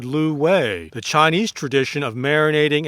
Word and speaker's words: lu wei: meat underneath the rose ducks that is the Lou way but at those usually cantonese-speaking restaurants in Chinatown